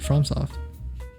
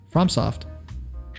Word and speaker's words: FromSoft: mean from well i mean that's how you pronounce it from soft you're saying from yeah that's how you pronounce it from soft does it have like a little mark over